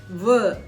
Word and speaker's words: veut: அதே மாதிரி தேர்ட்ல பார்த்தீங்கன்னா தேர்ட் பர்சன் சிங்குலர்ல பார்த்தீங்கன்னா இல் veut அப்படின்னு சொல்றோம், ஆனா அங்க போடுறது தே. இதை வந்து ஞாபகம் வச்சுக்கோங்க.